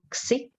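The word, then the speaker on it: ξι: in greek alphabet here this one is called xi and it's like the english eggs or mainly like having the k and the s together so it's so the sound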